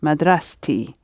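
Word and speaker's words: مدرستي: the end of madrasa the t springs out and it becomes my school is my thirsty that's it so the turf pops up and is pronounced madras tea the same happens when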